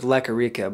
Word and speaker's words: Lequerica: I don't know how to pronounce his last name, bro. My last name's Lequerica, but I go by my producer name's Leque.